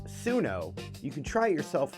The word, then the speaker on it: Suno: That's su n o, pronounced sunno.